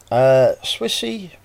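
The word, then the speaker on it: Swisse: get straight into it and item number one Swissy that's how you say it woman's ulti vitamins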